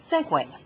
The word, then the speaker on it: segue: because first of all it is not spelled the way it sounds but does not sound the way it's spelled regardless I have seen